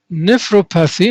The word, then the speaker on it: nephropathy: Now, the first term, nephropathy.